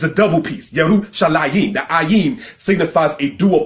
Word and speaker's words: Yerushalayim: Because anything that's a dual plural in Hebrew has the ayim sound at the end of it. Yerushalayim, all right, translated as Jerusalem.